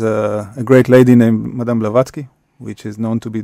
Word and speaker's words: Blavatsky: How do you pronounce the surname? Yeah, Blavatsky, exactly.